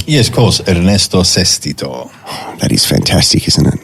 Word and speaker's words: Ernesto Sestito: and we say it correctly yes of course Ernesto ceso that is fantastic isn't it it's beautiful give